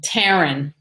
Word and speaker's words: Taryn: One of them that stands out is Taryn. She was a girl I got a job, rhymes with Sharon, in New York, way, way, way, way back.